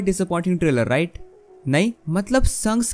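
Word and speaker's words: Shanks: बाय द वे मुझे बहुत लोग कह रहे थे कि सैंक्स को संक्स कहा करो, और जिसके बाद मैंने उसका प्रोनाउंसिएशन एक्चुअली चेक करा था और वो सैंक्स ही है।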